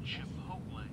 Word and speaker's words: Chipotle: Oh wow. Chipotle. That's how it's supposed to be pronounced.